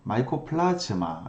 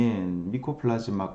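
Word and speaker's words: Mycoplasma: 미코 플러스 말하고 나오네요 사실 마이코 플러스 마 니코 플러스 마 마이코플라즈마 베른 식으로 많이 이제 발음을 하게 되는데 뭐 여튼 다 같은 말이에요 그래서 미코 플러스 많은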